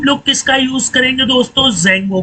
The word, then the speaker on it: Django: की बात करें तो जंगो है ठीक है इसमें डी दोस्तों साइलेंट होता है और डी हमेशा स्मॉल